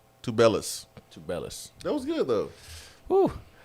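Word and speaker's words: Azuolas Tubelis: Tublis. Tubelis.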